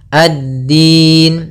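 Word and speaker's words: الدين: kemudian maaliki yaumiddin addin Nah di sini pada lafal dinnya yaitu kita usahakan menekan di Dal makhraj huruf Dal yaitu ujung lidah kita menempel dengan e apa batasan akhir dari Gigi Sari atas dan gusi atas jadi dia di tengah-tengahnya addin middin ya Kemudian pada lafal Din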